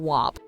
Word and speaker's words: WAP: Gomez also had to teach Short that it's pronounced WAP, not W-A-P.